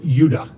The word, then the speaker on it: Judah: More properly pronounced Judah, because we didn't get the harder sound to the J until about 200 years ago.